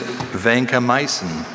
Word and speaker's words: vancomycin: Shreya, your word is vancomycin.